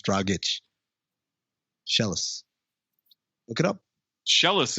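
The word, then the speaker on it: Dragić: It's like people who say Goran Dragic. No, it's Dragic.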